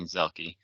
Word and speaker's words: Zielke: I'm Zielke, pronounced correctly, Zielke.